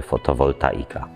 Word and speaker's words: fotowoltaika: Poprawnie oczywiście mówimy fotowoltaika. Jest to zbitka dwóch słów, greckiego fos, czyli światło, oraz volt, jednostki siły elektronapędowej. Trudno nam ustalić genezę tego błędnego zapisu i wymowy.